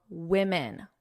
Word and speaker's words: women: Now, I want to talk about pronunciation because I hear a lot of mistakes with the pronunciation of women.